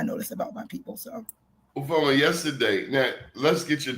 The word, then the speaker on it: Ufuoma: I'm wondering if the U is silent, is the O silent? I'm like, I have the no... second U is silent, and it's ooh, like ooh, that girl got that fire.